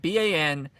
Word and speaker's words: Banastre: And then also Jason Isaacs based off of Bannister I can never say his name. It's like Banastre.